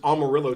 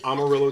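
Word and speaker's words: Amarillo: it looks like there's all murillo Texas it's not over lo Texas I know it's spelled like i'ma do those elves those elves but it's just because it's been American s there are a lot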